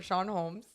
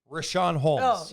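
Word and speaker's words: Richaun Holmes: okay so they went to the bench or Sean Holmes Rashawn Holmes yes I said it I said it right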